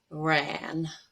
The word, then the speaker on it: ran: And it's very tempting to pronounce the simple past, the second form, as run, because you see that or the A that to you seems like an but it's actually going to be as in black, ran.